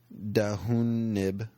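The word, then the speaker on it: D'Hoonib: So he tries to get to the city of P Block on the planet of Dahoonib, which is D''Hoonib. I'm pretty sure the H is silent.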